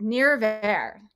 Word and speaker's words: Nirvair: i rule my r's so if you're irish or scottish or should be really easy if you're not don't worry about it just pronounce the word however you can n-i-r-v-a-i-r you know i'm